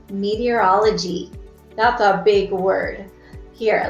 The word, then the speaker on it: meteorology: Here, let's go ahead and break up the syllables and let's see if you can say it with me. It's me, T, or all, O, G. Oh my goodness, how many syllables was that? Me, T, or all, O, G. 6 syllables.